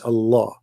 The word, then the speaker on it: Allah: It's just you have to say the L twice. Allah, you know, Al-Rahman, Al-Rahman, right?